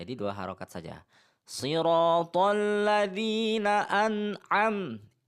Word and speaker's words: an'am: Sirathalladzina an'am. Ini adalah hamzah, ini adalah an' ain '. Jadi bedakan, jangan ucapkan ' anam', tetapi 'an'am'.